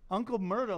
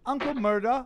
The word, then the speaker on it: Uncle Murda: see key put an uncle murder which obviously is not spelled like murder it's with a because that makes it different it's not racist well obvious with an uncle murder with an ER right right yeah right